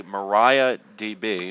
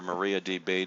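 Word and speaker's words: MariaDB: it's worked pretty flawlessly mariah db or maria db depending on how you want to pronounce it and uh they're they're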